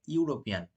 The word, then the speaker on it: European: the first sentence the N is used right European is being pronounced like y o u y o u r o p e a n right European so y o u that is a consonant